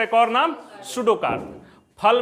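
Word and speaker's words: pseudocarp: सूडो, ये P silent है, बात समझ रहे हैं, सूडोकार्प।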